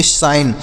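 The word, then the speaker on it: sign: एन से नौ तो इसे पढ़ेंगे साइन इसे साइन नहीं पढ़ना इ साइलेंट रहेगा नेक्स्ट देखते हैं एफ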